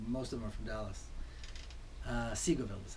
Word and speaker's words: Seagoville: they're mostly for most of them from Dallas Seagoville is how it's pronounced II grow and then after about a